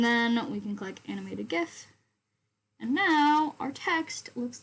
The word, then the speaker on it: GIF: however you would like i prefer well the correct what i the correct way is is gif because it stands for graphic interchange format so if you say